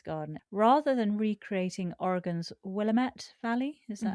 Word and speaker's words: Willamette: Rather than recreating Oregon's Willamette Valley, is that how you pronounce it?